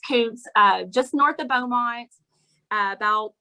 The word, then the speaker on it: Kountze: It's spelled Kountze. A lot of people think it's pronounced Kuntze, but it's Kuntze, just north of Beaumont, about 20 miles.